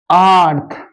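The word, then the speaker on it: earth: এইটাকে লক্ষ্য করো, আমি পরে বলছি যে কোথায় কোন জায়গায় কি রকম উচ্চারণ হচ্ছে। দেখো এখানে আর্লি লিখেছি, এখানে আর্ন লিখেছি। ওকে, আর্থ, আর টি এইচ, আর্থ।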